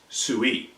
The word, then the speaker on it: Sui: dynasty and that's called the Sui dynasty again spelled like this pronounced Tsui so the Sui dynasty